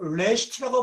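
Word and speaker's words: ראשית: 이트라는 말을 붙이게 되면 그러니까 롯에다가 이트를 붙이면 바로 레시트라고 발음하게 되죠.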